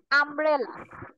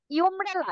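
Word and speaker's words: umbrella: আমি যদি বলি যে আমব্রেলা আমব্রেলাটা কি ইউব্রেলা এটা কিলা উচ্চারণ করি করি না আমরা কি উচ্চারণ করি আমব্রেলা উচ্চারণ করি তাহলে ইউটা কিন্তু এখানে ইউ এর মত উচ্চারণ হয় নাই আই এর মত উচ্চারণ হয়েছে ওই ক্ষেত্রে আমরা আগের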